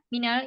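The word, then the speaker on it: مِن: Jadi timbul pertanyaan, kalau man itu dibacanya manil. Kenapa? Kalau min kok dibacanya minal? Ya karena iltiqa usakinain.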